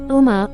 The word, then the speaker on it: ओम: ओम का उच्चारण 3 ध्वनियों से मिलकर बना है। इनका अर्थ वेदों में भी बताया गया है। ओम, उ, म इन 3 शब्दों से मिलकर बना है।